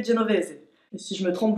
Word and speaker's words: Genovese: comment ça se prononce on va partir du principe que c'est italien et qu'il faut prononcer genovz et si je me